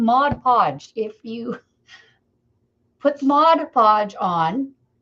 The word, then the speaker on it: Mod Podge: hard to say am I saying it wrong Mod Podge you put Mod Podge on and as soon